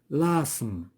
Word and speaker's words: asthme: إذا هنا H ne se prononce pas و G كذلك. l'asthme.